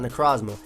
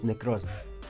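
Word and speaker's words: Necrozma: it wrong because it's it's not necosmo it's necros necros anyway um it's going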